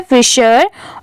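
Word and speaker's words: fisherman's: यहाँ पर ये हो गया द और ये है फिशरमैन्स, FISHER। इसे क्या पढ़ेंगे? ये हो गया फिश, ये इसे और पढ़ेंगे। यहाँ पर H साइलेंट है। फिशर, इसकी प्रोनाउंसिएशन है फिशर।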